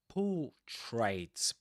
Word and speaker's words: portraits: So, portraits, you don't pronounce the r there. You say portraits, portraits.